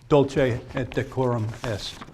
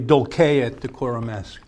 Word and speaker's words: Dulce et Decorum Est: And the name of the poem is Dulce et Decorum Est. And that's the, I'm sorry, that's the modern Italian pronunciation. It's actually Dulce et Decorum Est.